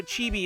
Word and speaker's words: chibi: I've always pronounced that word like chibi, but chibi is probably the more accurate way. No, chibi is actually closer to how it would be pronounced. I just say chibi a lot because that's how everyone I grew up around pronounced it. We were all weebs who didn't know how to pronounce Japanese words.